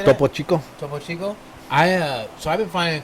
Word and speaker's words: Topo Chico: But the was it the Topo Poco, or how do you say that? Topo Chico? Topo Chico.